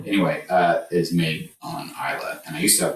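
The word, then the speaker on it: Islay: Um definitely one um distinct uh region is I Isa which is one island in Scotland is spelled IS l a Y.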